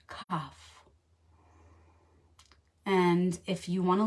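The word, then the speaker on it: quoph: the Ally of the week is the letter cough and if you want to look it up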